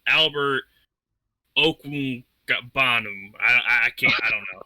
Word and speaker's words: Okwuegbunam: Pronounced Okwuegbunam. Okwuegbunam.